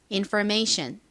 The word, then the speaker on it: information: 것으로 의미하아요 그러니까 정보 안내로 기억을 해두시면 되겠습니다 발음 좀 해 볼까요 information 천천히 한번 더 해 볼게요 information 좋습니다 백화점에